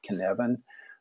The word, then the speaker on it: Cynefin: Welsh flag and the cabin framework the word kevin is pronounced as I have you straighten it there